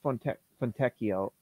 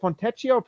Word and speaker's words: Fontecchio: just looking at Simone fontecchio is it fontecio from techio I I am not an Italian speaker but I know that Pinocchio is pronounced oh that's true like but like Pinocchio fatecchio okay there we go now